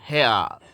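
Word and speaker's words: hair: आई एल ऑयल ऑयल एच ए आई आर हेयर हेयर आर को नहीं पढ़ा जाएगा अप्लाई ऑयल हैर apply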